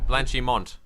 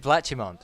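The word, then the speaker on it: Blanchimont: when there's an n in a word you pronounce it generally blanchimon you said blachimonde oh I do apologize blanch him on so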